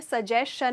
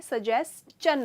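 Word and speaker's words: suggestion: अच्छा, एक मैं इसका मतलब समझा उसके पहले इसकी प्रोनाउंसिएशन में कह दूँ, ये सजेशन नहीं होता है, सजेस्चन होता है।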